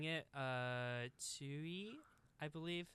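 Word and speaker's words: Tzuyu: Chewy, I believe. Some people call her Chewy, like Chewbacca, but I feel like they pronounce it more like Tsui in Okay, the, like, gotcha.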